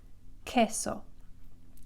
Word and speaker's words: queso: So Q-U together is just k, queso.